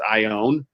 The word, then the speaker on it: Ioane: mind when people say my last name wrong it's Samoan it's I own and I have a